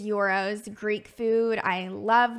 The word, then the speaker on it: gyros: I definitely love euros some people pronounce them gyros but it is euros to Greek food I